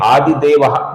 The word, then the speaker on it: आदिदेव: आगे की पंक्ति में पहला नाम है आदिदेवा जिसका दी ह्रस्व है। लघु उच्चारण करना है।